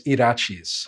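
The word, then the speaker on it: Yrachis: his name yeah his his native name was irachis so that's the name that's spelled with the uh y-r-a-c-h-i-s yeah that was the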